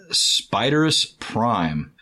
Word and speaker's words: Spiderus Prime: Spiderus Prime. Love for more Beast Wars episodes. Maybe some episodes from Beast Machines. Also, Big C, it's pronounced Spider-Us Prime. Not the pronouncement from the Miss Spider cartoon.